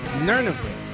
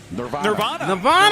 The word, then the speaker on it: Nirvana: Nerniva. What is it? Heart-shaped box. By who? Nerniva? Nirvana.